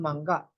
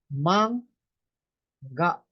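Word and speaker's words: 漫画: Kapag ang kasunod naman ng N ay G, nagiging NG sounds yan. Katulad ng manga. Instead na ang pronunciation ko ay manga, ay hindi naman manga. Nagiging mangga. Nagiging NG sounds yung N.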